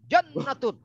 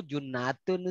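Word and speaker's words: جُنَّة: Jadi cara membacanya harus dengan nalar yang benar. Puasa adalah surga. As-saumu jannatun. Sesat kita baca itu. Iya, ya artinya harus dengan nalar. Oh, as-saumu junnatun, Ustaz.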